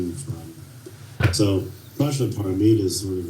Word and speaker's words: Paramita: I've lost the thread because I'm going to mispronounce it. Paramavita? No. Help me out. Paramita.